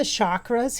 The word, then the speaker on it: chakra: so you see the chakras here. The chakras are energy centers of the body. Most of you know that, but if you don't, it's called it's spelled chakra, like chalk with a K-R-A.